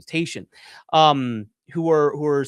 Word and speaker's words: Tatian: excuse me, that's how you say his name, Tatian, who were who were saying these things.